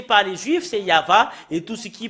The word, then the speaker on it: Yahvah: Normalement, ça doit être Yava qu'on doit le prononcer. Bah, ça a changé en Yahvé, Jéhovah ou Yahou.